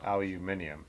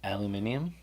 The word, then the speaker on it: aluminium: Aluminium, as the British say. I love that. That's how they say it. Where do they get all those extra syllables? Aluminium.